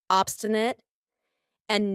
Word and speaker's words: obstinate: Obstinate, and notice how I pronounce it with a schwa at the end. Obstinate, not obstinate.